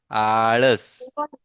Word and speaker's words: आळस: हाँ, और ये बीच वाला जो लेटर है ना, इसका जो प्रोनाउंसिएशन है वो ड़ है। क्योंकि बहुत सारे इंग्लिश मीडियम के बच्चे, बहुत सारे उर्दू मीडियम के और बहुत सारे हिंदी मीडियम के बच्चे, इनको ड़ बोलना ही नहीं आता।